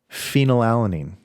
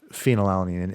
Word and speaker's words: phenylalanine: And phenylalanine. Phenylalanine. Yeah. Spelled with a PH. With a PH, like fat. It's totally fat.